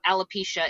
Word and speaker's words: alopecia: show several times that she's been struggling with alopecia is that how you say it yeah right